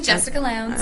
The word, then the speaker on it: Jessica Lowndes: Jessica Lowndes. You got it. You're like one of the only people who pronounced it right.